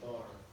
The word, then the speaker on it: BAR: But yeah, so that is the BAR. People often incorrectly say bar, but it's actually pronounced with each letter separately.